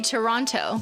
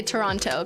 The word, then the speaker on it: Toronto: but no, I usually say Toronto because I tend to pronounce T's like button and kitten.